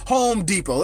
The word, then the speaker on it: Home Depot: silent Like Home Depot we don't pronounce the T why don't we pronounce the T who knows they just don't pronounce the T home deot but it's pronounced Home Depot it's just how the